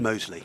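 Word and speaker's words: Mousley: Mosley Mos what's the correct pronunciation? Mosley. Mosley as in the Birmingham suburb.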